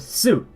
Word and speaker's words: す: don't be confused with suit it is su the biggest difference is in su you say so it is a an S sound with soon like Justin hard s like snake s for su but for suit it